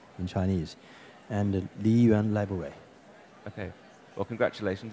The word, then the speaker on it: Liyuan: in the culture category, and the winner is Liyuan Library by Li Xiaodong Atelier. So did I get it even remotely right, the pronunciation? Yeah, Li Xiaodong, that's the name in Chinese, and Liyuan Library.